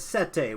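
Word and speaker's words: Seta: a barbarian month yes her name is set a which is a the Latin word for antenna because all of their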